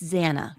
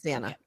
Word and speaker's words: Xana: When for me, it was when and it's pronounced, I want to make sure I say it correctly. It's Xana, correct? It's Xana? Yes, Xana.